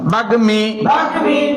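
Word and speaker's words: বাগ্মী: বাগমি বাগমি গর সঙ্গে মফালা এসেছে মফালা প্রকাশ্যে উচ্চারণ এসেছে যেমন বাগমি হরণময় বাগমি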